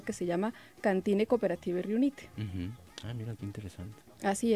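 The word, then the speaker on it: Riunite: Y propiamente se pronuncia Rionite.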